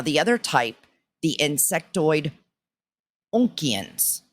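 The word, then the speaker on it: Oonkians: Now, the other type, the insectoid Onkians. I don't know if I'm saying that right, but it's spelled O-O-N as in Nancy, K-I-A-N as in Nancy S. Onkians.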